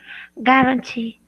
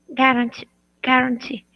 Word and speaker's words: guarantee: A written guarantee. Good. Just make sure to put the emphasis So for warranty, it's on the first syllable. Warranty. Warranty. Okay. Warranty. Good. And this emphasis is on the last syllable.